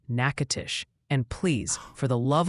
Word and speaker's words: Natchitoches: Multiple people insist Natchitoches is pronounced Natchitoches, and please, for the love of weather, it's Shaker Heights, Ohio, like a salt shaker, not a shark attack.